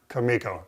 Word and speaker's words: Kumiko: So thanks for the time and bringing this cool stuff and giving us a walk through Kumiko.